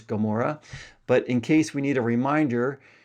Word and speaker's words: Gomorrah: We all know the story of Sodom and Gomorrah, or as it's pronounced in English, Gomorrah.